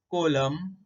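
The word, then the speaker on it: column: यानी शब्द के अंत में जब एम के बाद एन आता है तो वह एन साइलेंट हो जाता है। देखो यहाँ एग्जाम्पल दिए हैं, देखो कोलम, डैम, सोलम, ऑटम।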